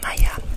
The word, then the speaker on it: Maja: Et puis aussi j'ai une dédicace pour Maya ou Maja, mais je crois que ça se prononce Maya, M-A-J-A, et avec le pseudo que j'ai trouvé très intéressant, Sweet Lana.